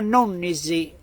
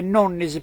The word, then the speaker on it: Nonnis: Nonnisi, si legge Nonnis, però è Nonnisi, per noi sardi è Nonnisi.